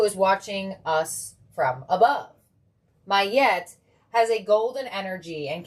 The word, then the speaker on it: Ma'at: Let's see what Mahat has for you. I feel like I have to stand up. I feel like I've been sitting for so long. Oof. Okay. Mahat, pronounced Mayet, all right, my bad, is an ancient Egyptian